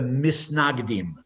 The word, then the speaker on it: misnagdim: so they were called again pronounced in Yiddish, the Misnagdim. Literally in Hebrew, it's the mitnagdim, but they were known as the misnagdim, those who were the opponents.